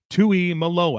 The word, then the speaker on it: Tuimoloa: Tui Malo out of Ohio State.